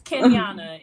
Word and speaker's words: Kenyanna: pronouncing names i understand it's kenyana it's exactly how it's spelled ken miana okay perfect